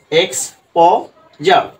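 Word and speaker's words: exposure: এটা কিন্তু আমি তোমাদের দেখিয়ে দিছি, এক্স প জার। Right, এক্সপোজার।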